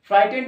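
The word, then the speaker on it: frightened: টোটালটা হচ্ছে ফ্রাই টেন যেহেতু টি এর আগে জি এইচ আছে জি এইচ এর উচ্চারণ হয় না এটুকুন বুঝে গেলে তাহলে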